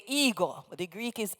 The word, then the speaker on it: ego: Omega eg long o we anglicize the pronunciation and say ego the Greek is ego